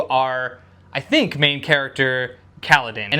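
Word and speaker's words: Kaladin: I think main character Kaledan, and it's pronounced Kaledan. I I listened to the audiobook to make sure.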